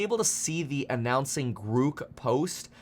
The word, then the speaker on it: Grok: to see the announcing Gro post which I'm pretty sure that's pronounced with a long o in case you're wondering uh Elon did post on Twitter that it has the long vowel o but anyway they do